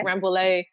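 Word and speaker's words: Rambouillet: is it ramb ramb I want to say ramb because of the French double lbe it's rambay so if you have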